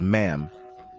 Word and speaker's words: ma'am: should do it as ma'am but pronounced with a short a like in Jam as for the traditional